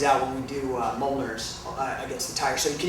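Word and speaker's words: Mjollnir: is uh called a Moler and uh it's spelled very weird it doesn't uh it's not phonetic it's m j o l l n i r and it's uh it's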